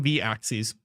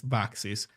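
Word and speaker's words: vaxis: file I depend on v-axis uh which I keep being reminded it's not V axis it's vaxes Li voxes I keep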